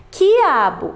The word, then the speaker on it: quiabo: Quiabo, então também o U não está sendo pronunciado e está acompanhado pela vogal I.